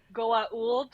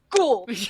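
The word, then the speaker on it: Goa'uld: of characters there are characters that pronounce it correctly Goa old which is like the way that go old say it and then there's characters like like Jack O'Neal who's like cool yeah Elliot cool right it's the alien race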